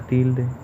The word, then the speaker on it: tilde: En la palabra tilde, la sílaba tónica es til, porque es la que más suena de las dos.